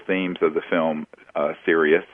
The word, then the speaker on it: Sirius: of the film uh serus which you did spell it correctly it's like the star system the brightest star in the sky is Sirius s i r i